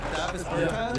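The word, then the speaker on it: Dāvis Bertāns: Oh, well, now, at this point in my life, it's Davis Bertans. Is that how you say his name? Davis Bertans. Davis Bertans?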